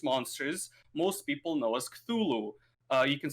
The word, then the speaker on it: Cthulhu: And anything merchandise related to the tentacle face monsters, most people know as Cthulhu. You can spell it as K-Thulhu, right? Like Cthulhu, something like that.